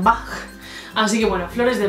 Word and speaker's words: Bach: de bach sé que mucha gente lo dice bach ovas pero yo lo digo como la pronunciación alemana como johann sebastian bach así que bueno flores